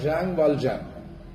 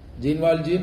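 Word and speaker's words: Jean Valjean: ഈ ഭാഗത്ത് ഈ തീം വിശദീകരിക്കണമെങ്കിൽ ഇതിലെ കേന്ദ്ര കഥാപാത്രമായ ഷാങ് വാൽജാൻ, ജീൻ വാൽജീൻ എന്ന് ഇംഗ്ലീഷിൽ എഴുതാറുള്ള, ഒരുപക്ഷെ നമുക്ക് സുപരിചിതമായ ഒരു ഉച്ചാരണം അതാണ്, ഷാങ് വാൽജാൻ കുടുംബം പുലർത്താൻ പെങ്ങളുടെയും കുട്ടിയുടെയും പട്ടിണി മാറ്റുവാൻ വേണ്ടി ഒരു റൊട്ടി മോഷ്ടിച്ചു.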